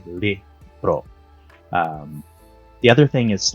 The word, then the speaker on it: libro: different so for example the word book in filipino is libro does not really sound like spanish it's different vowels right it's lax e lihbroh the other thing is like um again pronunciation right so like silla.